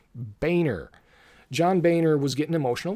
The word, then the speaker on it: Boehner: was a weird moment John Boehner that's that's pronounced Boehner John Boehner was getting